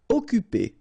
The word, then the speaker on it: Occuper: Occuper. You don't pronounce the double C here, so it's really like occuper.